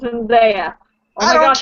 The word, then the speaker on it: Zendaya: It's pronounced Zendaya.